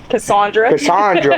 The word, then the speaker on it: Casandra: Casandra, my bad.